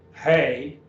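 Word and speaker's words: ἡ: here's your nominative singular hey notice the rough breathing on the a to hey hey and that is a long e hay and that is feminine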